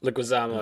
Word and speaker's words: Leguizamo: Leguizamo, Am I yeah.